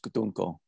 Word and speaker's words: Dunkel: Over here we call them Dunkels, but yeah. German pronunciation is more Dunkel.